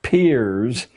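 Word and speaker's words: Peirce: He was, it's pronounced peers, but it's spelled as if it were Pierce. Charles S. peers, a strange figure, a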